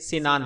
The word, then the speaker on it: سنان: جواب: واضح رہے کہ سنان کا اصل تلفظ سین سے سنان ہے، السنان سین کے زیر سے۔ اس کا معنی ہے نیزے